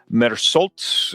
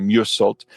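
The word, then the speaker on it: Meursault: And uh it says, "In French Algeria, office clerk Merult is that's definitely not how you say that. It's probably Musult uh stands accused of murder.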